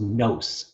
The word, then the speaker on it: nous: In 2049, a Canadian philosopher proposed nous, and the word gradually spread across the planet. Pronounced with a long O as in ghost, it sounded right in every language.